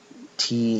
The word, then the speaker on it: Thi: But yeah, what I was saying was, his name is spelled T-H-I, but but for some reason he pronounces it T, like the letter.